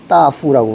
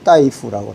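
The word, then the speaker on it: 大夫: 그 중국어로 하면은 앞에 벗을 하는 대부 이것은 그냥 따후라고 그러는데 의사라고 이야기할 때는 따이라고 그래요. 저 발음이 좀 다릅니다.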